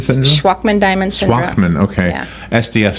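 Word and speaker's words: Shwachman-Diamond: I never even heard of, am I pronouncing it Swatchman-Diamond syndrome? Schwachman-Diamond syndrome.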